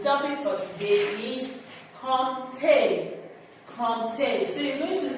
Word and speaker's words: compter: Compter. So you're going to say that after me. You listen to the way I'm pronouncing.